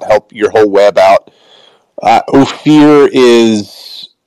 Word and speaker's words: Ophir: What's the website for Ophir? Well, it's spelled O P H I R.